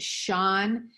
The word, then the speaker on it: Sean: She's seeing that Sean is S-E-A-N, and it makes the sh sound.